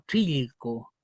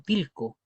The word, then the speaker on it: trilco: él la conoce como trilco. ¿Ven cómo varía la misma palabra trilcoo? Trilco. Yo la conozco más como Tilco y hay gente que la conoce como Chilco.